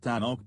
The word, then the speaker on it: Tanoak: Pacific region, and it is pronounced “tan oak,” like the tree.